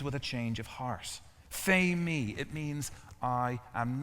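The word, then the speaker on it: φημί: And he says to himself, the second Greek word that Jesus uses here is pronounced phemi, which means to declare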